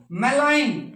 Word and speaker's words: malign: तो मेलाइन देखो, MALIGN, मेलाइन नहीं, मेलाइन, मेलाइन होता है द्रोही, पापात्मा, बुरा, बैड, MALIGN देखो कितनी अच्छी स्पेलिंग है, MALIGN, मेलाइन, गै साउंड साइलेंट, जी साउंड साइलेंट।